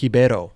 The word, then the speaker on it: Ribeiro: mean, Ribeiro.